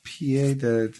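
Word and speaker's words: pied-à-terre: Pied à terre, pronounced pied à terre, is a small living unit usually located in a large city some distance away from the individual's primary residence.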